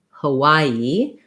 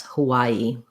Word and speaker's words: Hawaii: is going to say hawaii which is sounds like y a middle syllable stress hawaii hawaii this is another example